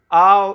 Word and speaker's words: آب: میں، آب پانی، من آو، وہ بے کو اتنا تلفظ نہیں کرتے، من آو نوشم، تو نوش جو ہے ہمارا کیا ہے؟